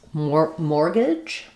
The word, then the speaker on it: mortgage: We have a question about how to pronounce mortgage, another more word. So this one is weird because it has a silent T. So there's no sound for the T. It's just like the word more.